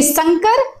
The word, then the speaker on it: संकर: ठीक है, तो इन दोनों शब्दों को ध्यान में तो जरूर रखिएगा कि संकर, इसका उच्चारण हम बोलेंगे संकर और इसे बोलेंगे शंकर। ठीक है, ये तो बात हो गई, आपकी परिभाषा भी आपने देख ली।